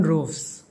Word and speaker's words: Roefs: The name of the goalkeeper of the Netherlands national football team is pronounced in his native language Dutch as Robin Roofs.